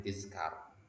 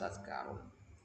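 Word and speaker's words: تذكار: Tadhkar, ya, sering orang bacanya tizkar. Ya, tizkar. Yang benar itu adalah tadhkarun.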